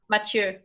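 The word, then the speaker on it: Matthieu: yeah the French version of how do you pronounce a mature mature but matures it's ma th ie you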